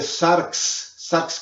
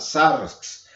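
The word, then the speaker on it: σάρξ: Y la palabra carne, ya la enseñé también en una sección anterior, se escribe sarx, como si fuéramos a decir saxófono, pero se pone una R y una X al final, sarx.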